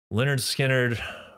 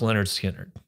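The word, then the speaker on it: Lynyrd Skynyrd: shall we number one Leonard skinnard pronounce Leonard skinnard I remember hearing this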